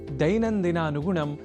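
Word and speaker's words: दैनन्दिनानुगुणम्: प्रत्यक्षतः भवतः परोक्षतः च संस्कृतं सेवमानः अहमस्मि आगतः दैनन्दिनानुगुणं नारायणदत्तमिश्रः। आपने ध्यान दिया होगा कि दैनन्दिनानुगुणम बोलने के क्रम में मैंने ऐ इस अक्षर का विशेष रूप से उच्चारण किया है, क्योंकि संस्कृत में अक्षरों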